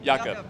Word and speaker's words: Jakob: Can we get a pronunciation confirmation on Jakob? Yes. Jakob.